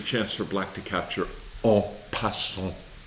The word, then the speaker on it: en passant: So this is a chance for black to capture en passant, or as often American players say, en passant. But we like to try to use our French pronunciation correctly.